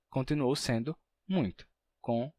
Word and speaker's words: muito: Você está escrevendo muito, assim como temos em ainda ou em Coimbra, né, que é com M no caso, mas tem o mesmo efeito. Coimbra, ainda. Então, para representar essa pronúncia,